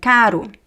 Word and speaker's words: caro: Okay, so the difference between carro with two r's and caro. Okay, they're different words, of course, different pronunciation of the letter r. So here is r. Caro. And here is h. Carro, carro. As I said, there are